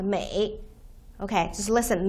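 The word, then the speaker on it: 梅: the character is pronounced May okay just listen May and the character the total the the this this character itself uh it's pronounced May so basically the same pronunciation right except for the tone and by the right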